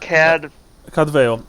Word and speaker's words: Cadfael: How is it pronounced? Cadvale.